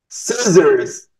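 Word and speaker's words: scissors: سيزرز.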